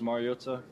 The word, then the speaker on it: Mariota: Marcus, but the last name is Mariota. I don't know if it's just for the Polynesian culture, you always got to enunciate the vowels, and so it's Mariota, but yeah.